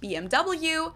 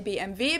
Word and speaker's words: BMW: in English people say BMW in German we say BMV because W is pronounced V in German and it's stands for